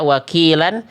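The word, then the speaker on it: وكيلا: Contohnya di sini la dibaca wakilan. Kalau berhenti jadi mad iwad wakila 2 harokat. Jangan kurang wakila ataupun wakila. Kepanjangan, seenak apapun salah bacaannya. Karena salah hukum tajwidnya, salah cara bacanya.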